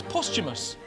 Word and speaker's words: posthumous: How should one pronounce posthumous?